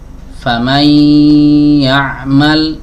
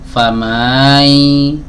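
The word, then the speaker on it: فمن يعمل: Famai enggak boleh. Enggak boleh diayun mimnya. Harusnya langsung masuk. Ya, ke huruf berikutnya. Famay ya'mal. Famay ya'mal. Bukan fammal.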